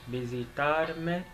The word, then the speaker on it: visitar: I learned that the V's are pronounced with a light V, so I'm attempting to pronounce it with the light V's.